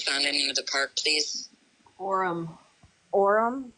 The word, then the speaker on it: Orrum: Orem, but it's spelled different. ORRUM.